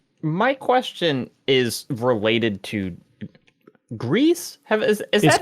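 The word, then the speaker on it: Gris: it have we decided GRE no it's it's gree I just looked up today on their official site they say Greece yep they say pronounced gree pronounced like the Star Wars Jedi Outlaw character whatever Jedi Survivor ah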